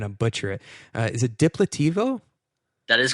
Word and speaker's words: Diplativo: site, which, by the way, if you can pronounce this for me because I'm going to butcher it, is it Diplativo?